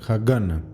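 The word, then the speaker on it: Haganah: exactamente Cómo se pronuncia para no decir hagana o hagan Pero bueno en Google dice hagana las tensiones comenzaron ficarse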